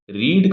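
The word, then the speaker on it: read: ऑफ the verb आएगी रीड का जो थर्ड फॉर्म है वो स्पेलिंग में तो रीड ही रहता है लेकिन वो बोला कैसे जाता है रेड बोला जाता है तो यहां पर मैं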